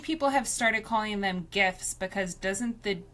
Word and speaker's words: GIF: So the guy who invented them used I'm assuming it's called a soft G. Who knows? There's no way to find out. Find out. Um but he said that it's GIF like the peanut butter.